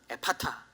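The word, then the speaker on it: Ephphatha: 예 알아 모였습니다 초 좀더 정확한 아람어 발음은 에 파타 입니다 그렇죠 이 장애인의 귀가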